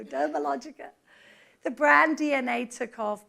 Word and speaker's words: Dermalogica: sense and of course no one could pronounce the name to begin with and we face that in every new market dermatologica and then it always a good opportunity to say no Dermalogica the brand DNA took